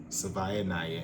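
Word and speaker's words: Savaiinaea: Sione Ah Kalia.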